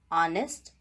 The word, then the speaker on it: honest: In the beginning of some words, letter H is silent because those words are borrowed from French language. For example, honest, hour, honorable, etc.